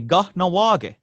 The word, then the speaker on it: Kahnawake: I So don't think I we're can pronounce that, but yeah, it's pretty easy actually. Kahnawake.